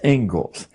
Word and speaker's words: Inglis: The Ingalls lecture. Looks like Inglis, but it's pronounced Ingalls.